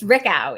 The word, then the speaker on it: Richau: It's Richau. It's not okay. Obvious. Most people think it's French. It's more German.